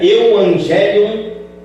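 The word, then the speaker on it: εὐαγγέλιον: ensinamentos para os irmãos então a pronúncia no grego você vê aí tem a palavra no grego no idioma grego tá eh que eh se pronuncia euangelion tá ou evangelho em português nós vamos falar eu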